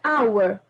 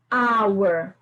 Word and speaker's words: our: então usamos a agora our our o h não foi pronunciado poderia falar Hours né